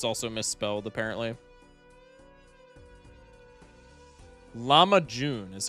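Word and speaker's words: lahmacun: Llama June is how you're is how you pronounced it is how you pronounce it.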